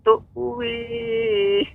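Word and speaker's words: تؤوي: Tuwi ya bacanya.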